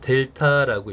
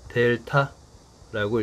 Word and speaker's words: 델타: 그런데 D에 해당되는 그리스 문자가 바로 델타인 거예요. 그래서 델타라고 읽으면 됩니다. 자, 이걸 많이 사용할테니까 그냥 그리기 어려우면이 삼각형 모양으로 사용하면 돼요. 그리고 한글로 델타라고 읽으면 됩니다.